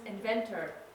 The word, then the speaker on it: inventor: one who invents yes inventor so here we have o-r but it's pronounced er right so if we